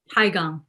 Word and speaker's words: Tigon: for your book, which is it Tigon or Tigon? Tigon.